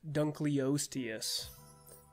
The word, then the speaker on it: Dunkleosteus: Oh, by the way, it is pronounced Dunkleosteus.